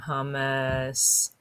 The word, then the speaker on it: hummus: So say it like Homer, hummus, my homemade hummus.